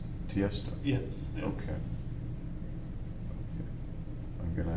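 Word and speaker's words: Tiësto: T.S. Tiesto. He's an electronic Can you DJ. spell it? Tiesto. So the name is Tiesto. It's not initials, it's Tiesto.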